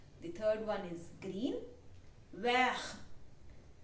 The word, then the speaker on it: vert: Vert. Vert. The T in the end will not be pronounced.